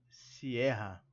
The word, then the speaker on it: Sierra: tem detalhamento sobre a sotaque inglês siera Mas use o português ok mas com a s sílaba tônica em e Sierra Ok Mike bravo charlie